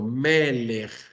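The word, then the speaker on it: מֶלֶךְ: Normalmente, por ejemplo, melech, que significa rey, la primer sílaba está acentuada.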